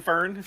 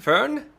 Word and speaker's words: Fern: Burn with a V or Vern with a F?